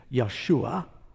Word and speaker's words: Yeshua: The name Joshua is, we're used to saying the more Hebrew-like pronunciation, more literally, we believe it's Yeshua. And, you know, in English we say Joshua.